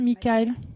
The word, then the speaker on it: Mickael: On prononce comme ça, Michael? Michael.